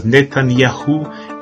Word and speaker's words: Netanyahu: So whenever you hear of names such as Netanyahu, it really is to be pronounced YAUH.